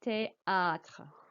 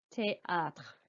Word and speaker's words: théâtre: and géographie and théâtre, the E accent means your voice must go up on the E.